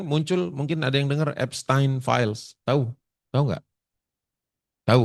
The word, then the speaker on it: Epstein: Takutnya ada yang enggak tahu tu Epstein Files ada yang nyebutnya Epstein, ada yang nyebutnya Epstein. Tapi karena dia itu orang turunan Jerman, saya bacanya Epstein.